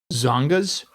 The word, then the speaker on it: Tsongas: I'm assuming the T is silent. Zongas.